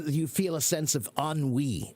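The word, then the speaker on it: ennui: So you s you feel a sense of unwe, right? But it's pronounc it's it's spelled en n ui. E n ui. But why do we pronounce it that way? Because it's a French word.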